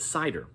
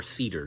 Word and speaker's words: CIDR: That was something that came later with cider or cedar, depending on how you pronounce it.